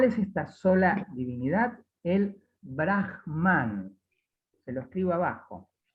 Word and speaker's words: Brahman: El Brahman. Se lo escribo abajo. Se escribe como Brahma, pero con una N final.